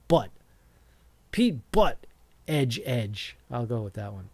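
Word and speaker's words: Pete Buttigieg: but butt butt edged his name is Pete pronounced Pete boot Edge Edge Pete boot Ed Edge but it's it's spelled butt Pete butt Edge Edge I'll go with that one Pete butt Edge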